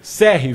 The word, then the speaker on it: Cerri: Para falar sobre esse assunto, nós vamos receber aqui o Victor, como que se pronuncia o nome dele? Serri, Victor Serri, que é o entrevistado de hoje, já está conosco aí.